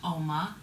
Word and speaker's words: UOMA: Okay, I'm so excited you guys because back in April, like I was saying, a new brand dropped called UOMA. The U is silent.